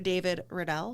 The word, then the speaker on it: David Riddell: a very very very very special guest mr david riddell did i pronounce that correctly you did excellent um with